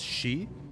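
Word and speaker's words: 四: is considered unlucky uh the pronunciation for the number four in Japanese uh can be pronounced as she uh which is also the root for the word death so because of that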